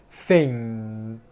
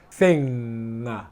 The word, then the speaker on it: thing: This is the right pronunciation- the good pronunciation: 'Thing' and this is bad pronunciation: 'Thing' /ŋʌ/ Okay.